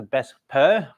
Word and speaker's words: VSEPR: I'm goingon to introduce something known as the besta theory but I know the spelling is v s e p so valence shell electron pair repur but simply thinking like we just pronounce it as a best per um Theory this is the one that explaining